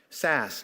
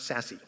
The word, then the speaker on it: Sasse: Sasse, not Sassy.